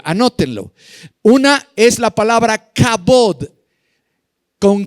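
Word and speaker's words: kabod: palabras para gloria anótenlo una es la palabra cabot con k k a b de burro o d d de dedo cabod y cuando la Biblia habla del cabot de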